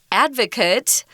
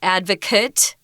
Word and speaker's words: advocate: though we should probably talk about this word advocate which is a person this is a noun